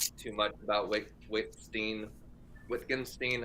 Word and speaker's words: Wittgenstein: much about white whitstein wittgenstein how do you say his name language game guy wickenstein wittenstein richtenstein which can yeah whatever starts with a w but pronunciation is a v i think you like